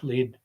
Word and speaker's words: Lead: That's how it's pronounced, by the way, I believe. Yeah, lead.